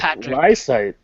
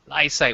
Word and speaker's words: Lysaght: are you and Patrick liight liight which rhy rhymes with eyesight but is not spelled like that at allat aren you